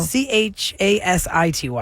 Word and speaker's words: Chasity: No, there's no T there. It's No? Chasity.